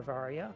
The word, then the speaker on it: Varia: barrier in which case you would think it would be pronounced similar to the English word barrier but some people think